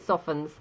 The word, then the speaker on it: soften: it becomes soft it softens and as I said earlier we don't pronounce the T and that it's a